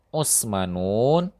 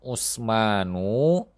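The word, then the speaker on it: عثمان: Yang benar adalah Hamzatu, Utsman. Yang benar adalah Utsmanu, Ahmadun.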